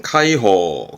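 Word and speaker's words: 開放: 한번 기억해 두시고요 개방입니다 발음은 카이호 카이호 전자입니다 뭔가 전개되는 상황이네요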